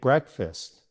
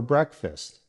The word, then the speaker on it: breakfast: She woke up early to make breakfast. Let's try it in a question. What did you have for breakfast? Bravo! Remember, it's breakfast, not break fast.